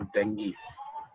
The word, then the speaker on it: dengue: या डेंगी, somewhere it is pronounce as डेंगी। तो थोड़ा सा इंग्लिश का जो है वो अलग अलग इसका प्रोनाउंसिएशन है, स्टाइल से ब्रिटिश अलग करते हैं, अमेरिकन से अलग करते हैं, उस हिसाब से।